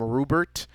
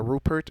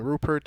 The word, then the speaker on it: Rupert: is i keep want i keep wanting to call him rubert uh but his name is a rupert if i'm pronouncing it